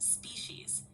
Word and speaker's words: species: Sure, it's pronounced species.